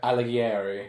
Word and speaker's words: Alighieri: have Afridi I'm going to pretend allow to pronounce it yeah Alighieri Alighieri cool good that sounds better how I